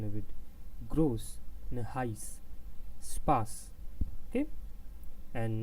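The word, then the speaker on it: Spaß: The first one is spas. You can see this, spas. I'm speaking a little bit longer here, not spas, and this is heiß.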